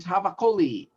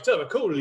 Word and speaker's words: Tavakoli: Yeah, that's because he actually said, you're leaving a syllable or two out of my name when you say it.